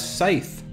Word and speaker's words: scythe: spells yay a fullsize scythe I I think I said skith earlier I you know I mispronouncing skith Scythe whatever let's also see if